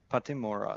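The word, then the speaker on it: Pattimura: Patimura, that's how you say it, okay.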